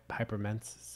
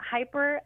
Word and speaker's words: hyperemesis: You mentioned cannabis, and I'm gonna mispronounce it. Hypermensis. How do you say that word? Yeah, hyperemesis. Hyperemesis.